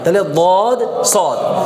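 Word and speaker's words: طاء: এই হরফের নামটা কি ত ত কিভাবে হবে ত একটু মোটা করে তাহলে মোটা করতে গিয়ে ঠোঁটটা হালকা একটু গোল হয় বেশি না একবারে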